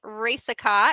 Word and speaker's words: Racicot: the insurance revolutionized podcast today I have ricot here with me today did I say